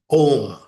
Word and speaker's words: Om: So if actually constantly if constantly you are engaged in this thought of Omar that the the symbol Om which is a mono syllable but containing three phonms a U and MA that is the physical representation of Brahma.